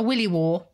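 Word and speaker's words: williwaw: Honestly, be careful how you pronounce that one. Third one's a little bit easier. I love this one. A willy war.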